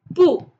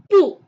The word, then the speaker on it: 不: The tone is the fourth tone, which means your voice goes down sharply, like pu. Let's discuss another important point, which is the tone change rule for pu.